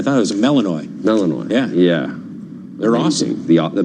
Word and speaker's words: Malinois: Malinois.